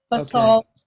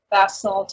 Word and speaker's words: basalt: pronounce that right right B salt in America bass salt in England okay bass all so